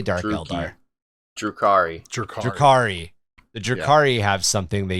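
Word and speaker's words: Drukhari: There's something, it's smaller, and the not the Dothraki, that's the Drukai. The Durakai? How do you say Dark Eldar? Drukari.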